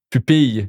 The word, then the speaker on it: pupille: And you see now I just pronounced it with the Y. Why did I do that mistake? It's because in Quebec, those three there, we often pronounce it with the Y, which I guess is a mistake.